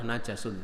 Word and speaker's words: najasun: Kalau najis itu dat yang kena, sesuatu yang kena najas, sehingga bacanya yang tepat adalah najasun.